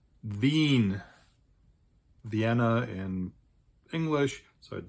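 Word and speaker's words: Wien: far is its capital which in German is pronounced V Vienna in English so it does have an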